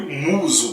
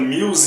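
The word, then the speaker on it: Muse: Episódio e sim galera a pronúncia que foi utilizada aí pela dublagem foi muso Tá eu já vi gente falando mils e tal mas na dublagem tava como muso tá então assim nesse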